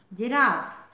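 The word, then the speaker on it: giraffe: होता है जी आई आर A double F जिराफ जिराफ में जिराफ आई होप आपको ये जी के उच्चारण के नियम अच्छे से समझ में आ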